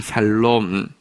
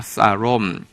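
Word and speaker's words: שָׁלוֹם: 샬롬. 영어 발음이고요. 조금 정확한 히브리어 발음으로는요, 한번 따라하겠습니다. 사롬.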